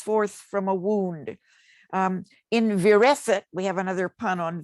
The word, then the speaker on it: virescit: In virescit, we have another pun on Vere's name. If you pronounce it, Vere is it.